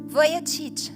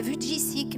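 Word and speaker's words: Vujicic: de d'un homme qui s'appelle attention à la prononciation Nick VOC j'ai regardé c'est comme ça que ça se prononce moi je disais V jissic mais c'est pas ça voilà voilà un évangéliste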